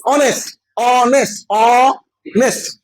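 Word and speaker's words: honest: হ আওয়ার আ দেখেছো এখানে আছে এইচ কিন্তু উচ্চারণ আ এর মত তাই কি হলো এন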